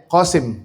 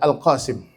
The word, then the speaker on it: Al-Qasim: Putra beliau juga sama, ada yang namanya Qasim, padahal namanya adalah Al-Qasim.